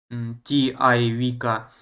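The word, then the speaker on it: Civica: Итальянское произношение Чивика, Арена, Арена.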